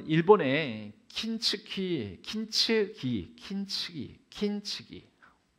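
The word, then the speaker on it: 金継ぎ: 어, 일본에 킨츠키 킨츠기 킨츠기 킨츠기 예 제가 이걸 써 써 놓기는 킨즈기라고 했는데 킨츠 킨츠 막 이렇게 자꾸 그러니까 어 일본어를 전공하신 그 우리 일부 일부 예배를 드리신 성도님께서 목사님 발음을 그렇게 발음하시면 안 됩니다. 그래 가지고 제 긴장에서 발음을 하 킨츠기 킨츠기 키는 금이라는 뜻이거든요.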